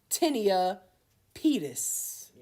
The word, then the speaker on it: tinea pedis: Tinea pedis. All right? Or tinea pedis. Pedis is pronounced on here tinea pedis.